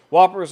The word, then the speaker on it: WPPR: Whoppers are, WPPR has been started being pronounced Whopper.